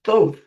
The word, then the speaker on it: Thoth: I was pronouncing it Thoth, but this guy was around before mankind, so he's the god of wisdom, and his name is Thoth.